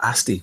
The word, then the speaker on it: Asti: And you've got some of the new ones as well, Asti, which rhymes with the UK thing called a pasty, if anybody knows what that is.